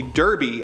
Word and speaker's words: Derby: His nickname is actually Derby after the hat he's always wearing, but his heavy accent makes him pronounce it Doby.